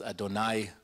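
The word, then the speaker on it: אֲדֹנָי: other names as well the tetragrammaton of course yo Dave of hay which is pronounced as Adonai these are special names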